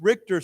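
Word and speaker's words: Richter: Juan after an earthquake measuring 7.2 on the RoR scale struck the country on Wednesday last week okay so uh of course RoR scale is the scale that everybody uses for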